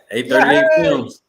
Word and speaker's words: A38 Films: A38 Films? You got it. A38 Films.